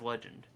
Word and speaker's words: Legende: crazy thing is like it's a legend backpack and the legend is spelt a little different it's got like that little accent a mark on it but they say it is legend see i was like